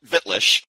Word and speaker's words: Wittlich: You'll know me as Wittlich. People call me Witt for short, but it's actually pronounced with a V because it's a German word, a German town that I adopted, if you will.